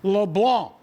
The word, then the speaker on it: LeBlanc: That is a silent C, not a hard C. And I'm going to continue to talk about this until the LSU voice gets it right. LeBlanc.